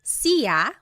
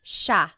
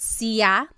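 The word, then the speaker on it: siya: It looks like it should be pronounced sa, but it's actually pronounced sha sha. There are some regions in the Philippines that might pronounce it sia but for the most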